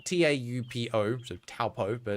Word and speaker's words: Taupo: And in New Zealand, there's a town called Taupo, spelled T-A-U-P-O, so Taupo, but it's pronounced Taupo, because Kiwis like to pronounce things differently for reasons.